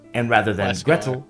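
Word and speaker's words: Gretel: Hansel comes from Hansel and Gretle which is more like Hansel and Gretle in cocknney pronunciation and Gretle rhymes with Kettle.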